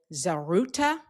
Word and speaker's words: Zaghrouta: in the audience did Zaghrouta I know I am not pronouncing it exactly right. I'm not rolling the R in the right way.